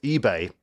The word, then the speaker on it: Ibe: came from Liverpool um he wanted his name to be Jordan I now he has Nigerian Heritage and it would have been pronounced eBay in Nigeria so consequently you can't